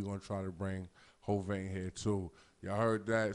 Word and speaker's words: Hovain: section, and motherfucking say Hovain, you know what I mean? You know how to spell it. It's H-O, ho, then vein. Like, you know what I'm saying? Hovain.